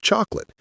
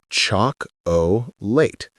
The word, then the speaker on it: chocolate: But native speakers say it with two syllables, chocolate or chocolate. That middle O disappears entirely.